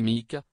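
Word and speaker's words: Muick: mondiale et le corguillé mu prononcé mik d'après le loch musique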